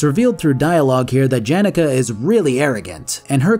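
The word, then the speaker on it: Janeka: language it would be yanuka uh but they pronounce it janica so it's janica I guess these new wardens claim to want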